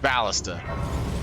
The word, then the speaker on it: ballista: absolutely insane it's actually it's actually supposed to be pronounced ballista 100 that guy just